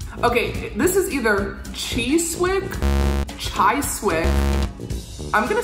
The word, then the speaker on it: Chiswick: else other than chiswick chizik i really thought it was going to be a tri-slick chisic so we're just throwing the w's out the window at this point i